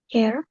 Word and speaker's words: care: Kalau peduli, care. Care. Keduanya care. Care. Iya. Care, care. Walaupun tulisannya karet, eh caret ya, tapi bacanya care.